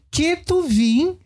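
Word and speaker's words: כתובים: do tanar né E ketuvim que é trans literando seria com ch mas ch em hebraico se pronuncia q né não que se pronuncia é mas a gente fala ketuvim né é a gente fala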